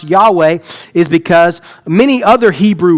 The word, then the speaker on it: Yahweh: Now, like like I like I pronounced it a minute ago, Yahweh. That's the to the best of our ability, that is how it is pronounced.